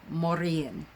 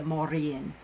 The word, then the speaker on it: Morrigan: her name is pronounced Morrigan, with an R, a kind of a roll off the tongue with the R. So it's the Morrigan.